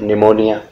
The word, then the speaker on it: pneumonia: यह निमोनिया, इसमें भी पी साइलेंट है तो पी को लगा के देखेंगे तो ये निमोनिया ही हम इसको बोल पाएंगे।